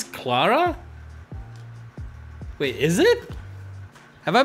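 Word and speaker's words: Klara: plus hp all right that's an ellen kiara not an i wha oh it's clara wait is it have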